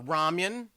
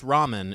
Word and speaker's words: ramen: uh you know uh ramyan oh yeah absolutely you pronounce ramen as ramyan um I pronounced Ramen is ramyan yeah I think how it